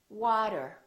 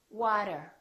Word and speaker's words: water: t between two vowels repeat after me water water we don't say water we say water auto auto automatic we